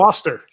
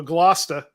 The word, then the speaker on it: Gloucester: Gloucester is the fishing village. Oh, Gloucester is the fishing village. They're both like old British names, which is why they're pronounced way different than they're spelled.